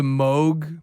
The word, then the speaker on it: Moog: Moog theremin. Is Yeah. it pronounced Moog or Moog?